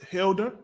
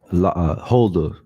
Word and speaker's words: Huldah: Her name is Huldah, right? Her name is Huldah. Salakia, can you get me the meaning of Huldah, Baba Kashar? Khan, you said Hilda? Huldah.